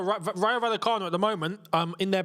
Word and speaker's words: Vallecano: Double L in Spanish is a Y, isn't it? Vallecano. Rayo Vallecano.